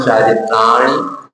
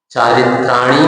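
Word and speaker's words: चारित्राणि: सूत्र नंबर एक सम्यक दर्शन ज्ञान चारित्रण मोक्ष मार्ग आप उच्चारण कर सकते हैं। आपका उच्चारण कुछ अशुद्ध सा हुआ। चारित्रणी नहीं है।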